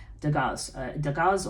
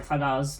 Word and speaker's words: Dagaz: Dagaz or Thagaz, depending on how I've been told. 2 different pronunciations of this one.